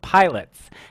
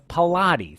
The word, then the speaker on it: Pilates: what it was when i used to pronounce it pilots and it was pilates as an icon and